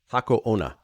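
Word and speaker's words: Hako Onna: You spelled the name wrong. What is it actually called? Hako Ona.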